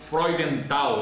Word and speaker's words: Freudenthal: aqui, o Freudenthal. Eu estava brincando aqui que eu ia errar a pronúncia do Freud, mas acertei.